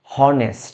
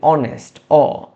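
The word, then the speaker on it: honest: আমরা যখন দেখব যে এইচ দিয়ে শুরু হচ্ছে কিন্তু শব্দটার এইচ উচ্চারণ হচ্ছে না এখানে দেখো সেকেন্ড যে লেটারটা আছে ও এটা দিয়ে উচ্চারণ হবে যেমন আমরা কিন্তু বলি না হনেস্ট আমরা বলি অনেস্ট অনেস্ট এইটার উচ্চারণ হচ্ছে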